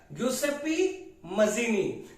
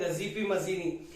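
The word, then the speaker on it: Giuseppe Mazzini: और वो कौन है, ग्यूसेप्पी मजीनी। कई लोग कहते हैं गजीपी मजीनी, लेकिन इसका प्रोनाउंसिएशन है ग्यूसेप्पे मजीनी।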